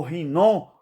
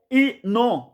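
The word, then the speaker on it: Hinom: Então você pronuncia Rinon ou Inon. Inon é num bom português. Agora, Rinon, né? Rinon. Você rasga a garganta como se fosse 2 R.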